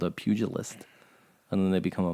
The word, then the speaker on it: pugilist: The hand-to-hand combat is called a pugilist, and then they become a monk later on. but Hey, they start that's as a pugilist. that's the same. Or as some people pronounce it, a pugilist.